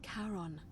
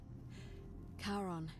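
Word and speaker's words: Charon: c h a r o n as in Caron the ferryman of the Dead karon who in exchange for the right coin helps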